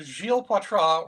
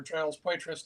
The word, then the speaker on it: Gilles Poitras: Well, I've got Gilles Poitras, or Giles Poitras, depending on how you feel like pronouncing it, talking about anime and anime in Tokyo and Tokyo in anime.